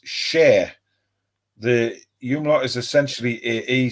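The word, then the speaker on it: Schär: his tactics um uh Paul says no it's pronounced share the umot is essentially AE so it's share well thank you very much for that Paul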